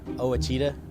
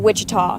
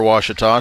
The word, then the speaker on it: Ouachita: I've heard people say Ouachita. Wichita. Achita. Ouachita. Is it pronounced Ouachita? Searching for Ouachita Baptist University. Back in Texas, everybody pronounces it Wichita, but really, it's Ouachita.